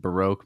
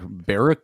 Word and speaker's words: Baroque: got it all Baro I just learned how to pronounce that last night Baroque music I was just like barue like I love barbecue